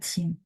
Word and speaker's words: 清: Bacanya cing, kayak gitu.